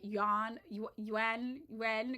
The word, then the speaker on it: Yuan: I always say this wrong. I just say yen and it's wrong. Yuan.